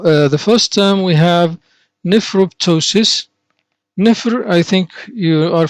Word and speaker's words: nephroptosis: Now, the first term we have nephroptosis.